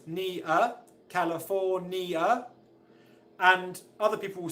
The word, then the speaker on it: California: question the answer is the primary stress the main stress in the word is on fall the third syllable California California California okay but